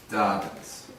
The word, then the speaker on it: Dobbins: Dobbins. Dobbins. Dobbins. Yes, you pronounce it very good.